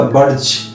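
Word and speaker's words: budge: তো আর একটা একই ধরনের শব্দ আছে বাজ, BUDG, আমরা বাজ বলি না, বলি বাজ, ডি সাইলেন্ট থাকে।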